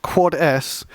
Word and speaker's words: 4S: Uh because because 4s is generally pronounced quads which means sss which means I think server side secret storage and like what is that right?